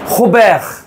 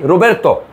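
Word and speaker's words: Robert: রিনোল, কিন্তু ওরা বলবে কি হন, আর এর উচ্চারণটা দেখেন হন, রেপন্স রেপন্স বলেন রেপন্স, তারপরে হোবের, হ্যাঁ হোবের, আর ইতালি রোবের্তো, কত সোজা দেখছেন, ইতালি রোবের্তো, রোবের্তো ভিয়েনে ভিয়েনে,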